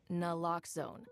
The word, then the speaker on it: naloxone: For the record, it's naloxone. Na, like, is naloxone addictive? Nuh-uh. Locks like naloxone keeps humans safe like locks keep bikes safe, and own like